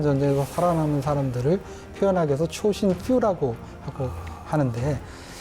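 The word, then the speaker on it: Chosin: 이 초신이라고 하는 것은 장진호의 일본식 발음입니다. 그래서 이제 자신들이 그 뒤에 퓨라고 하는 것은 거의 없는, 매우 적은이라는 뜻이잖아요. 네. 결국은 그 혹독한 전쟁에서 살아남은 사람들을 표현하기 위해서 초신 퓨라고 하고 하는데, 그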